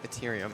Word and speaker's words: Ethereum: I have not played it, but it was the one that Ethereum, or did I pronounce that right? Ethereum? Ethereum. Yeah, hard T.